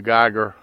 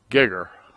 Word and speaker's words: Geiger: now I pronounce that Geiger my grandfather pronounced it gigger so I don't know which is I know I went to school with the boy and he pronounced it Geiger but like I said my